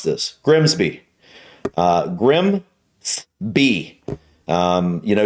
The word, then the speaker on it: Grimsby: but what if we told you it was pronounced no we'd be lying it's Grimsby oh but other places can be okay okay